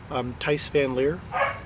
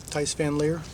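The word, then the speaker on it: Thijs van Leer: Tice Van Leer, I believe it's how it's pronounced.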